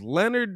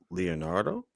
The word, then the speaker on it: Leonardo: fans because it was Leonard DiCaprio. Leonard DiCaprio. Leonardo? I was like, damn, bro, that's disrespectful. How you mispronounce the greatest actor of our generation?